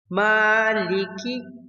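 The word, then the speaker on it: مَٰلِكِ: The Mim in Maliki should be pronounced clearly without completely closing the lips. Maliki.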